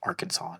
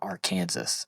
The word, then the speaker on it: Arkansas: And then we've got LSU or Louisiana State University in Arkansas playing later tonight. Why is it pronounced Arkansas, not R Kansas?